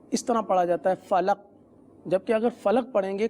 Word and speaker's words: فلق: ادائیگی کروا دیتے ہیں، جیسے آپ نے فلق وقف میں پڑھنا ہے صحیح۔ تو اس کی انفرادی مشق یوں کر لیجئے، لام قاف زبر لق، آپ میرے ساتھ پڑھ